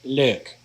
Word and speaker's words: leuk: Ik vind het leuk. Ik vind het leuk. The EU blend there is kind of a hard one to pronounce, but it's an O sound, leuk.